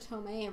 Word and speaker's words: Tomei: Marissa Tomei rhymes with hot Aunt May.